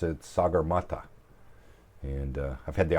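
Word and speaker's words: सगरमाथा: Mount Everest in Nepal and in nepales they pronounce it sagur mat and uh I've had the opportunity to go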